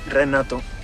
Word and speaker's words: Renato: welcome to the united states of america it's pronounced renato oh your accent is adorable welcome to america